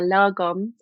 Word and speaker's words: lagom: bit what it is exactly I think you pronounce it perfectly yeah lagom um and it's a Swedish word and it